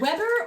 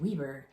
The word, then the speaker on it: Weber: It's either Weber or here in Utah, we would pronounce that Weber because we have a Weber County and that's how we pronounce the W-E-B-E-R.